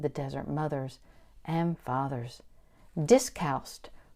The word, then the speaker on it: Discalced: Discalced, pronounced with the second c soft like s, is Latin for “without shoes .”